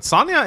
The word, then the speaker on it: Sonja: Apparently people say I pronounce Sonja's name wrong too, but Sonja is actually a very common name in Norwegian, and we say Sonja, so...